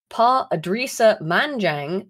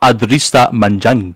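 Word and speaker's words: Pa Edrissa Manjang: to secure work when PA adris manang began working for Uber Eats in 2019 I'm afraid you're saying his name wrong it's Pista manang excuse me pardon me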